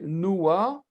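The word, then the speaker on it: נוּחַ: On va prononcer d'abord la voyelle et puis la consonne. On dit roua, ch. Se reposer, noua, ch. noir. OK? Donc, ça, c'est un patach furtif.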